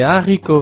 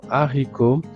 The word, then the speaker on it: haricot: l'article D, le S, normalement on fait la liaison mais ici avec le mot haricot, il n'y a pas de liaison.